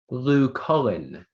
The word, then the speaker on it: Lucullan: Lucullen.